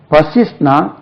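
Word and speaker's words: persist: persevere பசிவியர்னா விடா முயற்சி பர்சிஸ்ட்னா continue doing things despite several difficulties and oppositions அதான் பசிஸ்ட் பசிஸ்ட் பிஆர் எஸ் ஐ எஸ்டி பர்சிஸ்ட் stress lies on the second level பசிஸ்ட் பெர்சிஸ்டட் பி ஆர்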